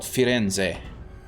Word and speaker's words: Firenze: Called Firenze. Yeah, Florence. The English name for the city is Florence, but the Italian name for it is Firenze.